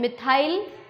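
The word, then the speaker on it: methyl: जो English medium के जो स्टूडेंट्स होते हैं ना, मैथिल की जो स्पेलिंग है वो ये है, तो वो बच्चे क्या उच्चारण करते हैं, मिथाइल, एथाइल, propyl, butyl, पेंटाइल, hexyl, heptyl, octyl, nonyl and डेकाइल।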